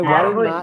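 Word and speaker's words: والماء: അടുത്തത് അപ്പൊ ഇവിടെ എന്തിനാണ് വൽമാ എന്ന് പറഞ്ഞതെന്ന് മനസ്സിലായോ വൽ അതായത് വ ചേർന്ന് വന്നാൽ അൽ മാന്റെ ആ ക്ക് ഉച്ചാരണമില്ല ഓക്കേ അപ്പൊ അല്ലിന് രണ്ട്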